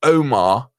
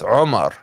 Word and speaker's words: Omar: it's not m m you got roll your r a little bit roll your R and it's not Omar it's Omar uh it's one of those